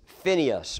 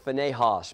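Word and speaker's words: Phinehas: them was named huai the other one was Phineas or I've heard it pronounced phos but Phineas or fos and the Bible says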